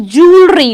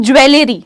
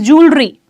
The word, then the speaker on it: jewelry: a piece of jewelry it is pronounced as jewelry not jewelly never ever call it jewelly I know there are